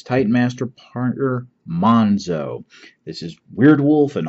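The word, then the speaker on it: Monxo: Monzo, basically the Z has been turned into an X, but everybody pronounces it Monzo.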